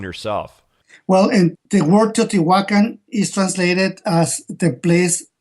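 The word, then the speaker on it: Teotihuacán: It's Teotihuacan. Teotihuacan.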